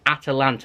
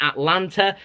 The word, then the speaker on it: Atalanta: video but it is Atalanta there is an a after the T it isn't Atlanta that's a city over